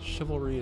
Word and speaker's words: chivalry: Chivalry is dead.